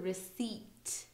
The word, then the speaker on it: receipt: do with people receipt so here receipt actually here we have two silent letters i n p receipt okay um and then